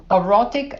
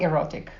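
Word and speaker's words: orotic: different forms of B12 B13 aurotic acid not erotic o-r-o-t-i-c in case my pronunciation is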